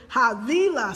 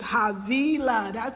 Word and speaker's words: Havila: Havila, you says, nope, sis, this is Havila. Sorry, Havila. You know who this is. Leo buddy, I know exactly who it is. Havila. Thank you for giving me the correct pronunciation.